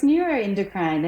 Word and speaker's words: neuroendocrine: you do it for us please so it's neuroendocrine and yes you're so correct it is very difficult to pronounce and I guess that's probably one of